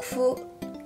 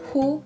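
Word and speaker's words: ふ: Nah, untuk fu kalian bacanya bukan hu tapi he, antara ha sama f, jadi bukan fu bukan hu.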